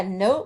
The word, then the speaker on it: note: at the end yeah note would have that sneaky silent e at the end so we know that